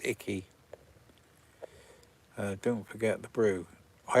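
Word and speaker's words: Icke: It's pronounced Ickle. Icky. It's pronounced Icky.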